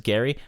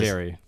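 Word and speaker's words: Gerry: I have Arthur versus Gary, which is actually pretty funny because... Jerry. Yes, Arthur versus Gary. But they spell it with a G.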